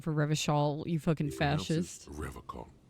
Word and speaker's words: Revachol: Revachol with a hard K.